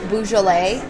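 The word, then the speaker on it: Beaujolais: know something about wine I would recommend getting balet it's spelled b auau like B and then j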